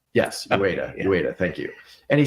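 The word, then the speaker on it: Uyeda: A recent commissioner was on CNBC, and he said, Mark Ueda? Yes, Ueda, thank you. And he said, he described the SEC's approach to crypto as a disaster. Yeah. I agree with Commissioner Ueda.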